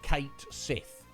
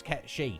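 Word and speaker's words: Cait Sith: in other things uh kate sith now metapod pointed out to me that the actual pronunciation that is kept she reason being it's like gaelic or old like irish words or something and that's the actual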